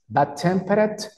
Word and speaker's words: tempered: Bad tempered. La ED siempre es una T pero pequeñita.